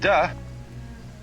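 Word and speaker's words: 德: And the book is called the Tao Te Ching, because again there's no apostrophe after the T, so it's pronounced De, and Jing, there is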